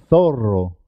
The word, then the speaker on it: zorro: Por ejemplo, cuando se escribe doble, dos R's, siempre suena doble. Carro. Carro. Es importante marcar la R. Perro. Perro. Zorro.